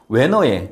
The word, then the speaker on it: 웨너: 웨너의 사전극법을 이용하여 대지 저항률을 계산하시오. 자, 요거를 웨너라고 읽어요. 웨너.